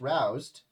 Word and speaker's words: Rouse: Well, Roose is pronounced roused. Ah, rouse the beast.